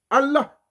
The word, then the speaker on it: Allah: Il faut prononcer tout à la lettre H, et il faut la respiration, un peu comme l'hébreu que j'ai étudié également.